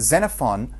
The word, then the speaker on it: Xenophon: about his name that the name Xenophon is pronounced as if it has a Zed so don't get too confused about that just pretended as a Zed there and Xenophon was an Athenian soldier